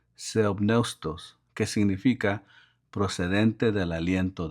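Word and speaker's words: θεόπνευστος: La palabra inspirada es una traducción de la palabra griega que se pronuncia theopneustos, que significa procedente del aliento de Dios.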